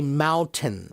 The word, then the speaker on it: mountain: So they say mountain. Mountain. There's no N when they say it.